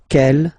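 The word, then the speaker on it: quelle: then the feminine form is written like that q l l but it's pronounced like the masculine form Kell at the masculine Kell at the feminine okay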